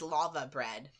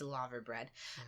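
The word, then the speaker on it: laverbread: heard of that and I always thought it was lava bread because of the way British people pronounce their ours you know but it's lava bread um the next one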